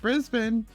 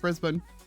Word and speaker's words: Brisbane: i do at least know that it's pronounced brisbane i still wind up instinctively pronouncing it brisbane and then have to correct myself but i do know that it is brisbane knocked out because it